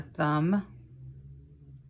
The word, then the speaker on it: thumb: Here's another silent letter word. That's a knife that it's pointing to. There's a knot. There's a thumb.